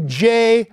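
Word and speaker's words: Jeh: already here, and through J, rhymes with meh, Johnson at Homeland Security, they're moving forward to make us less secure.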